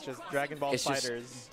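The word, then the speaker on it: FighterZ: It's just Dragon Ball Fighters. It's just Dragon Ball. Dragon Ball Fighters. It's yes. Synonymous with FGC. The Z is not pronounced.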